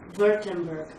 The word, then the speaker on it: Württemberg: The place, I don't know if I can pronounce it. Ulm in Baden-Württemberg. Germany. Württemberg.